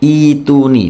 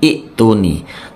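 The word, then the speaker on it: ائتوني: samawatuni seperti itu ya bacanya ituni bukan iuni tapi iuni i panjang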